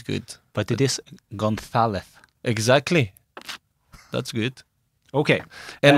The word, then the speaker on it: González: doing, I guess, but it's González. It's like when you say Barcelona. Yeah. Actually, it's not the same letter, but we pronounce the pronunciation. It's almost the same sound. Yeah, it's the same sound. As in gracias.